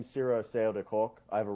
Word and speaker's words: Cyro Asseo: part of my name like my name is sira sayo de cork i have a really long last